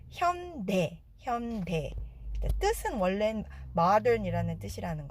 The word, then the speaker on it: 현대: 자, 미국에서는 현대의 발음을 현다이라고 많이 하시는데요. 한국어를 영어로 옮기는 과정에서 어쩔 수 없이 AI를 쓰다 보니까 이게 미국식 발음으론 현다이입니다. 하지만 한국 발음은 현대.